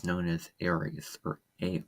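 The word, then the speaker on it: Ares: It's known as Aries or A R E S. That's how it's spelled in Greek mythology.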